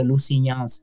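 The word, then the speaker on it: Lusignans: different city yeah it's the g is silent uh it's like the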